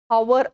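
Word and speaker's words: hour: ஹவர் அப்படிங்கிற போதும், hair அப்படிங்கும் பொழுதும், ஆனர் அப்படிங்கும் பொழுதும் எச் அப்படிங்கிற இது வந்து சைலண்டா இருக்கும்.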